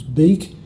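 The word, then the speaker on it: biik: It'd be pretty obvious that the pronunciation was beak, and so that would get respelled in the IPA conventions as B-I-I-K.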